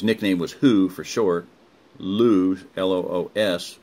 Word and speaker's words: Loos: was who for sure lose el OS but the S is silent Hulu do you think